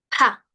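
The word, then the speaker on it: 怕: Pa, con aire, ¿sí? No pa de papá, de pa, sino de pa, ¿sí?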